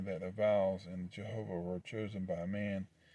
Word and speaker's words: Jehovah: a uh yeah so the last vowel in jehovah is the vowel point kemetz pronounced a not e in ad212 clement had va